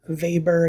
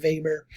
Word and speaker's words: Weber: weber and we say weber even though it's a w we pronounce it with the german v sound weber uh karl marx wasn't